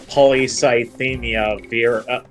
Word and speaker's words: polycythemia vera: Oh yeah, somebody actually explained what polycythemia vera. They actually gave me the phonetic pronunciation too.